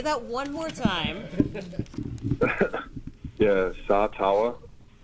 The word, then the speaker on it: Sataoa: Yeah, my name is Sataoa. Okay, wait. Say that one more time. Yeah, Sataoa Sataoa.